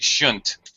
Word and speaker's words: shouldn't: And shouldn't that you did a very good job, but sometimes it's reduced even farther and it might sound like shouldn't. Uh more like shouldn't.